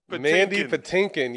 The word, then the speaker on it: Mandy Patinkin: Mandy Patinkin.